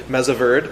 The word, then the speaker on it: Mesa Verde: a lot in the what's called the Mesa Verde Formation, or in the Wyoming pronunciation. The correct pronunciation, they would say, is Mesa Verde. My California students, don't look at that.